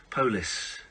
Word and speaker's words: polis: I love I can't do it the way the Scottish say polish. Polus.